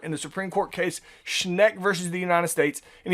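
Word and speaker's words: Schenck: about the government uh charles schneck uh that's how you pronounce it charles sneck uh he was against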